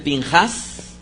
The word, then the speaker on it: Pinhas: Finés, que en hebreo vendría a ser Pinhas. Fíjense cómo cambia bastante lo que vendría a ser la pronunciación. Es que ahí utiliza para este nombre la letra hebrea P. Y P, dependiendo del signo diacrítico y dependiendo del contexto, podría pronunciarse como P o como Fe.